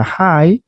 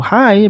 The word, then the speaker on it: high: Contohnya kata high yang artinya tinggi. Tidak perlu kita bunyikan huruf GH-nya, huruf GH-nya tidak perlu kita bunyikan, karena ini adalah silent letters, cukup dengan hi saja seperti menyapa orang, oh hi begitu, maka sudah cukup untuk menyebutkan kata tinggi ya, yaitu hi.